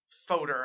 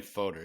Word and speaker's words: foeder: happens in a wooden foeder. I guess that's how we're pronouncing it, Huck. Is that how we decided? I think we're saying foeder, yeah.